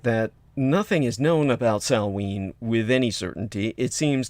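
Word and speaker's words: Samhain: christianize a pagan holiday called salween uh which is also pronounced uh sawween uh as in sow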